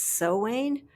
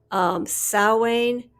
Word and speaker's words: Samhain: Yeah, I was reading there's Samhain, there's Sowain. I think the UK and Australia, I think both of the countries pronounce it the same way, and I think it's Sowain. Samhain, Samhain, which I don't think is proper.